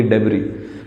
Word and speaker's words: debris: उनकी डेबरी, DEBRIS, इसमें ये जो एस होता है ये साइलेंट होता है, इसको बोलते हैं डेब्री, कचड़ा, कूड़ा कचरा, मलबा बोल सकते हैं.